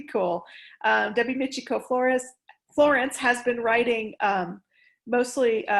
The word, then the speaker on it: Florence: copy from the author debbie michiko flores debbie mitchiko no i'm sorry i'm getting her last name wrong but it's on the cover demi michiko florence i had it right um and she sent